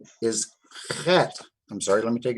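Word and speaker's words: חית: Now, it's the Chet? same CH sound as you'd make in the word Bach. So that's how we say Chet.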